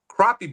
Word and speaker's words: crappie: uh thanks to 922 crappie barbecue I did I did make sure that is the correct way to say it because let's face it who wants to eat a crappy barbecue that's right why would